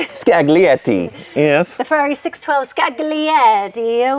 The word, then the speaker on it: Scaglietti: Scaglietti, yes.